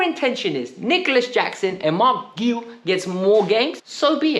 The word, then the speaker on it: Marc Guiu: Chelsea FC's TikTok and he actively said, you pronounce my name as Marc Guiu. So we're going to be calling him Marc Guiu. No more Guiao, no more Guiui, like the way I was trying to pronounce it.